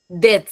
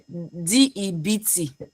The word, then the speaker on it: debt: D E BT. Yeah. Yeah. Yeah. Yeah. Yeah. But you pronounce it without the B. Like there's no B in it.